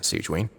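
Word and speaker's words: Sigewinne: But thank you for your concern, Sigewin. Oh, Sijuan? That's how you say her name? I didn't know how to say Fontaine names.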